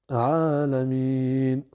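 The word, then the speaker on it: العالمين: le a sauf que la voyelle ne va pas se prononcer vu que c'est la dernière lettre du verset donc Alamin alors je prononce le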